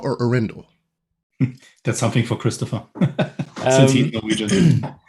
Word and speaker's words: Arendal: is a city in norway and the locals pronounce it andal but uh like for the global market we say iron doll yeah okay i would pronounce it uh like